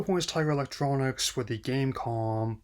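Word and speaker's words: Game.com: Tiger Electronics with the gamecom the dot is silent actually tried to win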